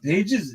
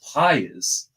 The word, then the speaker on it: Pages: right now I'm looking it's pases Andy pases all right is is how you pronounce it so I want to make sure I pronounce it correctly so payz is a